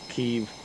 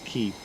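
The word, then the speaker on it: Kyiv: have it four hours of uh make 29 keeve or kiev but uh properly pronounced it's keep so make 29.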